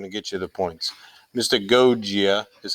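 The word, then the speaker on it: mystagogia: two g's in there the first g sounds like a hard g and then the second g sounds like a j that's a little confusing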